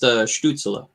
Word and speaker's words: Stützle: It's actually pronounced Stützle.